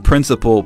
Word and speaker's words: principle: Both sound like principal.